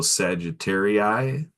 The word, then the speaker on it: Sagittarii: I want to give a big shout out to all my fellow Sagittarii.